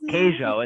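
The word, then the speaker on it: queijo: heard of queso so kaizo is how they say in Portuguese I think queso and how they say it in Spanish but it means cheese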